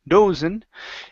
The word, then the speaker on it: dozen: word dozen right here instead of do dozen this is an uh sound here in the middle toah du dozen dozen